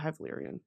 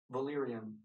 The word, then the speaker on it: Valyrian: havarian it's hyan how do you say h Valyrian Valyrian okay hi Valyrian cuz some some random dork